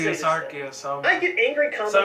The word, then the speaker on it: Arceus: The first official pronunciation for this thing is Arceus, dropped in the game Pokemon Battle Revolution on the Wii. Arceus!